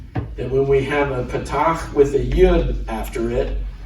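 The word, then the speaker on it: פתח: We've learned the patach, which is a dash under the letter, and it sounded like the ah in father.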